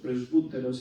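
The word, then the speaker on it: presbyteros: medio obispos y medio la palabra griega vos presbteros si lo pronunciamos así más como en griego pues de ahí se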